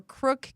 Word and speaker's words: Croke: It's either Croke or Crook K or CROKE is how you spell it.